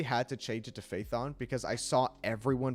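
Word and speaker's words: Phaethon: dynamic duo that runs under the proxy name faithon so I I I literally had to change it to Faith on because I saw everyone pronounce it faithon uh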